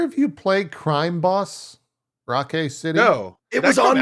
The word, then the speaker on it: Rockay: So it's not Rocky, it's Rockay City for whatever reason.